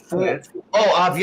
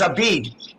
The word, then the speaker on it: Abiad: Okay, but it's Fouad. Fouad Abiad. Abiad. I thought it was Abid. Okay, Fouad Abiad.